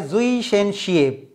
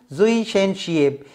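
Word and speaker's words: Zwischenscheibe: Haan z line jo full form hite padanda, hi ikro German word a zui shen shiep. What is pronunciation? Zui shen shiep, meaning between disc.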